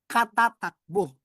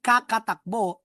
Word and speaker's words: katatakbo: Ang uulitin po natin dito, ang unang pantig ng salitang ugat. Yung first syllable ng salitang ugat. Ba yung salitang ugat takbo. So ang uulitin diyan yung ta. Yung ta. Hindi po yung Hindi po yung ka. So instead of saying kakatakbo, dapat guys ang tama katatakbo.